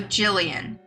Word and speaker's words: Jillian: rough gelato so Jillian soft G like giraffe Jillian Jillian Jillian writing